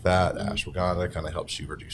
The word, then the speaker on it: ashwagandha: So it's like that ashwagandha. Ashwagandha. Yeah. It does not help you pronounce words better.